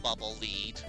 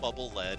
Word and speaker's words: Bubble Lead: Actually, it's pronounced bubble lead. My bad. It's not bubbleled, everybody.